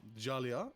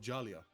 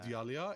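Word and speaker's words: Djalia: No, it's not Jalia. It's actually a silent D. It's Hall of Jalia. It's not hall of Dalia.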